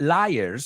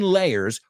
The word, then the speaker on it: layers: supposedly it's because the canyon layers not liar I've heard people mispronounce this word the canyon layers were formed long before